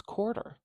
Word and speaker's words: quarter: It's not quarter, it's quarter. At least in my dialect, that's how we pronounce it.